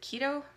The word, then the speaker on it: keto: But the way I remember how to say keto is if I say Keto Guido, and I know I said it right.